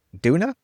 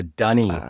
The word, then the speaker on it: dunny: Duna? What's Doona? how do you say, what? No, what's how do you say toilet in Australian? Oh, Dunny.